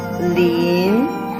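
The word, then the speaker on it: 林: The pronunciation is lin. Le in, lin, second tone.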